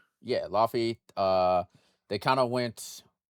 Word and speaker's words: Laufey: Yeah, Laufey.